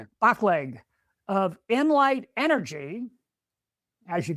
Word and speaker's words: Baclig: And today's guest and I'm probably going to get your last name wrong. I'm sorry. Antonio Bach. Bachle. Yeah. Bachleg of Inlight Energy.